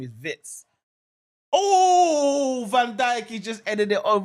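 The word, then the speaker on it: Wirtz: He said he's he's pronounc the the pronunciation of his name is Vitz.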